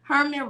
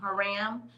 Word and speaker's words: Hiram: Herman Rhodes Reveal became the first African American to serve in the U.S. Senate. I said that all wrong, y'all. Herman or Hiram. I'm saying it wrong. Hiram Rhodes Reveal became the